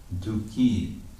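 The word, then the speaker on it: दुःखी: Dukhi, the word dukhi works like the word yogi in Sanskrit. There's yoga and there's the yogi. It's a long I in the nominative.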